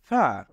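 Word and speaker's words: ف: হবে এটাকে আমরা বলব ফা এটাকে বলবো ফা ফা এর উচ্চারণ হবে আমরা যদি দাঁতের আমাদের আগার সাথে নিচের ঠোঁটের আগা মিলাই তাহলে এভাবে উচ্চারণ হবে ফা আমরা আবারো বলবো ফা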